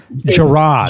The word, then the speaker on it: Jarrod: It's spelled Jarrod.